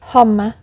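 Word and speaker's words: homme: So when he pointed to the word man, which he had printed upon a piece of bark, he learned from Darno that it was pronounced humma. And in the same way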